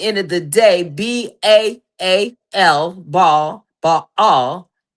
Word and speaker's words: Baal: All right, because at the end of the day, BAAL Baal is pronounced Baal.